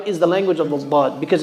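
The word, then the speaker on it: ض: Now, the dad, the scholars differ on how exactly to pronounce it. But the correct position, Allah knows best, is the left side of the tongue. It touches the left side of the top teeth, the upper teeth.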